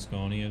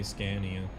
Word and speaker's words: Scania: Well, I guess anybody that doesn't understand Swedish would say Scania. Oh. Scania. Because you guys pronounce it the way it looks, but which is understandable. But it's an aw sound, not an and sound.